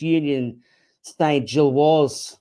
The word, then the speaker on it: Union Saint-Gilloise: Uh we're here to unpack the biggest Champions League victory in the club's history against Union St. Jill. Craig, I think that's the uh the official pronunciation.